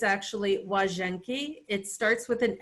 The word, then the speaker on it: Łazienki: It's actually Łazienki. It starts with an L, but if you see an L in Polish with the slash through it, the pronunciation is W. So Łazienki Park, and this is